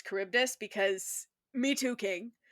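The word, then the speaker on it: Charybdis: that Percy cannot pronounce Kuribdus because me too, King. It was up until I read the Odyssey in like freshman year English that I learned it was caribdis. I was reading carabotis.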